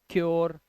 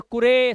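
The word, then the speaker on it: cure: ऐसे ही यू के बाद आ रही तो श्योर, योर, ओ का साउंड ऐसे ही होता है क्योर। अब ये कुरे, सुरे या पुरे मत पढ़ लेना, ये ओ का उच्चारण दे रहे हैं, ठीक है।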